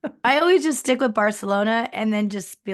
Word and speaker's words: Barcelona: Ah, yeah, it's Barcelona because the Spanish people who live there have that extra TH.